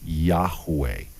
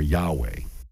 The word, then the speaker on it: Yahweh: hey and that's pronounced most scholars tell us it's pronounced something like yahuweh or yahweh so yahweh or yahweh